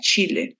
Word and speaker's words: Chile: Bolivian, Colombian, Venezuela, Ecuador, Chile sí no se dice como la J, sino Chile tal cual, así como tal. Das Chile.